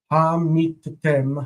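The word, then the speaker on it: הֲמִתֶּם: Now it's suddenly closed because the tav is doubled, so it's ha meet tem. Stress is here. So because this syllable is closed, it cannot have a long vowel. It has to be a short vowel. Hamitem, hamitem.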